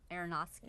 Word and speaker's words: Aronofsky: I don't know how to pronounce it. Aronofsky.